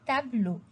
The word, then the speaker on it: tableau: In class, what we did, we circled EAU, EAU, and we wrote that EAU ou bien EAU en français, it is O. So when I pronounce the word, I say un tableau.